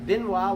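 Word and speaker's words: Benoît: Benoit, Benoit, I think. How do you, I always say pear. Benoit, like a beignet, like the French or the Cajun treat that's got powdered sugar on it.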